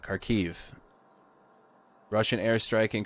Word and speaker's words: Kharkiv: or keiv i got to say it right karkiv russian airstrike in kharkiv we watched this a little earlier but they